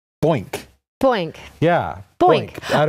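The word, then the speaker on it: Boynq: And the first two are from the same company, a company called Boink. Boink. Yeah. Boink. Boink. Out of Europe. That's spelled B-O-Y-N-Q.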